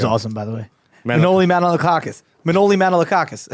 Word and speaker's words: Manolakakis: Manoli Manolakakis.